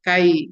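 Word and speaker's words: χ: C atau kai kadang orang membacanya k^ ya keefisien korelasi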